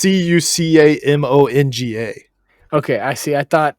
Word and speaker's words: Cucamonga: It's Cucamonga.